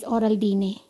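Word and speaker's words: Oraldine: Bale ang pronunciation nila dito sa Spain is oral dine.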